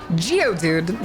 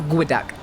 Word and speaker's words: geoduck: Geodude, nah, it's a Guadek. Spelled like Geoduck.